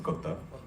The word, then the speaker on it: Kotha: guys to tell them it is King of Kotha and not the usual Hindi pronunciation. So it's in the film Kotha, in Malayalam it's Kotha.